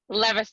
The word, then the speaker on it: Levister: your love diva and am i pronouncing your last name levister levister that's correct i'm a published author